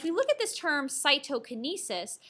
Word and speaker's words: cytokinesis: look at this term cytokinesis saito sounds like the word cytoplasm so cytokinesis is basically